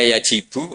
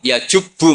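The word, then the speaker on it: يجبّ: Terus Nabi ngendikan, "Alislamu yajubbu maqoblah." Itu bacanya bukan yajibu tapi apa?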